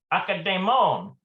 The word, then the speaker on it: אקדמון: It looks like Akdemon, maybe? Let's take a look at that here. Oh, look at that. It means, literally, the bookstore means ancient. אקדמון. Akademon. Oh, okay. That might be a transliteration too on the English word, like academics.